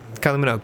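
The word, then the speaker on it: Kylie Minogue: I I always forget how to pronounce her name. It's just Manugg. Kylie Manugg. Kylie Manog.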